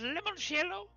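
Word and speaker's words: limoncello: how about uh uh lemonchello is that how you say it lemon shello yes perfect good yes it is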